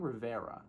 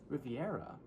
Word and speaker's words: Riviera: you say that R I've been saying Rivera is that how you say it Riviera oh oh [ __